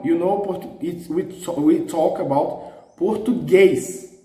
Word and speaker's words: português: Reading with the stressed syllable in the penultimate, Português, Português. It's wrong. You know, we talk about Português. So the stress is in the last one.